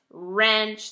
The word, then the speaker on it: wrench: tighten something up so wrist right wrench they all sound like they're starting with an R but the W is actually what begins it this is something you